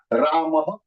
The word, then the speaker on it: Rama: Ram is not Sanskrit. Rama is Sanskrit. When we say Rama, totally there are 5 alphabets that we have used.